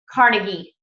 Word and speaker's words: Carnegie: Okay, really good read by Dale Carnegie is how you say his.